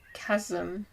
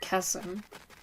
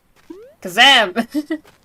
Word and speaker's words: chasm: Pronounced like chasm. Chasm? Okay, I always thought it's chasm. Okay, chasm. Kazam! No, chasm.